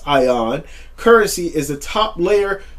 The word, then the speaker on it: ION: energy of Internet Network ion pronounced ion currency is the top